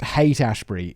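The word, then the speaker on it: Haight-Ashbury: hate gurus this is this place apparently it's pronounced hate ashbury it's spelt like hort hout uh hortas hate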